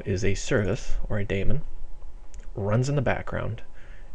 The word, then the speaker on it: daemon: Some people call them demons, but I think the correct pronunciation is daemon.